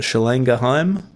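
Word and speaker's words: Schlagenheim: I believe maybe one of the guys might be half German or something like that, but Schlang Geheim, I looked it up. Apparently that's how you say it phonetically.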